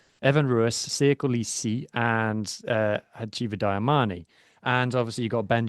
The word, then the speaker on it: Hacjivah Dayimani: So, obviously we've seen Hacjivah Dayimani.